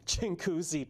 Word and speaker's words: Chinguacousy: Okay, I was a local reporter in Toronto, and I always get this name wrong. Chinguacousy Park in Brampton.